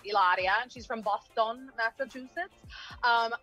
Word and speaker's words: Hilaria: um first of all i believe it's pronounced ilaria you said ileria no no no ellaria she's from boston massachusetts